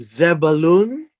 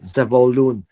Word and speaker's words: Zebulun: And Elon, the Zebulunite from Zebulun, uh, or Zevulun, he died. Uh, he was buried at uh, Ayalon in the country of Zebulun or Zevulun. That is how it's said in the Hebrew, Zevulun.